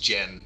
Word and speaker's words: Dzien: It's pronounced Dzien. Dzien. Okay. Dzien. It's a Polish word. So yeah, it'd be Dzien.